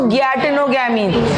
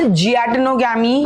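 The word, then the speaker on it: geitonogamy: गैटेनोगैमी। गैटेनोगैमी क्या बोलेंगे? This गैटेनोगैमी can also be pronounced as जियाटेनोगैमी, क्योंकि जी से स्टार्ट हो रहा है, तो वी can call it एज गैटेनोगैमी और जियाटेनोगैमी।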